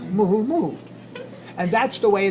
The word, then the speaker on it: muumuu: spelled and you you which is not pronounced move so mu you and you you so it's not move move it's listen to this